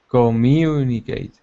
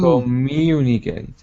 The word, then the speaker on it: communicate: okay careful pronunciation communicate communicate good whenever you see a u remember it's really euu Comm if you slow it down it's EU commun communicate good good okay and